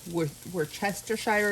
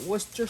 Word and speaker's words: Worcestershire: tablespoon of Worcestershire sauce Worcestershire where chestershire is what it says on the bottle but that's not how you pronounce it um depending on what